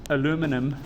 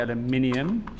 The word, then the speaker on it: aluminium: things are paramagnetic so this aluminum over here as the americans say aluminium as is the correct way to say it this does not stick